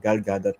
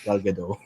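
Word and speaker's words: Gal Gadot: i-google niyo magugulat kayo Si galgadot tama yung pronunciation ko an si Wonder Woman galgadot not galado okay makikita niyo siya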